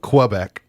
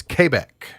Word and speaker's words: Quebec: or not but it's we're not supposed to pronounce it quebec it's quebec that's how it's supposed to be pronounced but